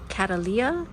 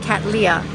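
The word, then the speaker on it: Cattleya: showroom and even though somebody at olomana told me it's pronounced Catalia um their pronunciation at akasuka was Kat Leah so I don't know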